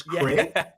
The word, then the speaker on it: Craig: I always find it funny how Americans say my name. They say it like it's a hybrid between Greg and Craig. It's Craig.